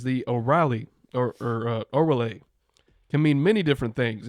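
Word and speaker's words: Órale: My drink today is the Shiner, I believe it's pronounced Orale, Mexican style cerveza. I think it's like, like Andale. Orale.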